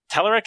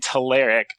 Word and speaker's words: Telerik: or teleric or telerique teleric and taleric are both proper pronunciations which is crazy well